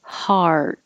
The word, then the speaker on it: hard: e a here um hard so har curl your tongue back before you put it in the t position hard and hold it there unless there's a